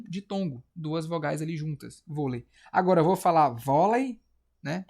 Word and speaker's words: vôlei: Se for hã se for vôlei volei v o lei. Vou acentuar ou não vou? Vôlei. Exercício aqui. Vôlei é uma paroxítona ou uma oxítona?